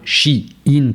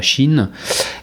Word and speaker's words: Shein: chinois Mo euh chin prononcé donc bien chi in pas Chine qui a fait son